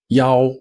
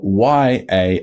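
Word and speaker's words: 要: at home next up which is e a o e o ya and this will be spelled y a o went on its own so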